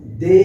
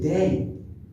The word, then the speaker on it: they: এবার দে আর, এই যে দে কথাটা কিন্তু ভুল, উচ্চারণ হচ্ছে দেয়, ওয়াইয়ের উচ্চারণটা ইটা আসবে, দেয়। তাহলে দে আর, দে আর, দে আর।